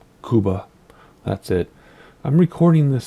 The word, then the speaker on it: Cuba: And Cuba is how you say it. I know the United States, we just say Cuba, but it's Cuba.